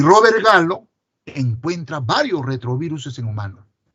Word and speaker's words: Gallo: Y el hallazgo de este virus, hecho por el virólogo francés Robert Gallo se escribe pero se lee Gallo, fue todo un boom, porque no habíamos descubierto retroviruses en humanos.